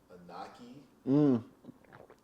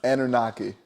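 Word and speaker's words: Anunnaki: Anunaki. Did I say that correctly? You did not. Oh, okay. It's Anunaki.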